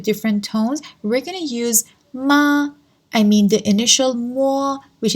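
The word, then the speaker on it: 买: both have different tones this character the tone is the third tone and this one the tone is the fourth tone so all pronounce it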